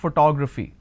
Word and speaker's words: photography: the word photography here it's actually pronounced that photography now how many consonants do I have here I have per sorry p h t g r a p h y these are the consonants what are the valves I have o then I have o again then I have a so o o a okay now if I have to break it into syllables I pronounce this as for two graph fee how many how many